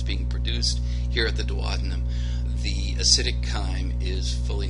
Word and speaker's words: duodenum: It's duodenum.